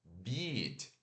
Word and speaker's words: beat: Então, beat, né, ó, eu tô longo, eat e tô sorrindo. Beat, beat, né? A beat. Beat. E esse som aqui de mordida, né, é o B normal, o I curto e o T.